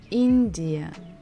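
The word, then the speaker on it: Индия: choose the country India India so here we stress the first syllable in India India India India next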